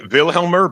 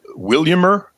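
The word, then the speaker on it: Vilhjálmur: A lot of people say Vilhelmer, but he pronounced it. Williammer.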